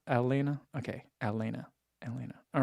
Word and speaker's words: Atlanta: you get there just make sure not to pronounce the t's in it so Elena Elena okay Elena Elena all